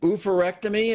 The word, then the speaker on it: oophorectomy: Now, the procedure you underwent, and I hope I'm pronouncing this right, was an oophorectomy. Is that the correct pronunciation?